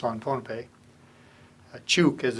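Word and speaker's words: Chuuk: Now it's on Pohnpei, Chuk as it's pronounced now.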